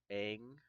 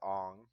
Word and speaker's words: Aang: I do know that the air sphere that Aang or Ong, have whichever way you want to pronounce it, rides around on is something that he created and is a technique of his own.